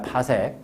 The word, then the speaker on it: 파섹: 파섹이라고 읽는다. 파섹.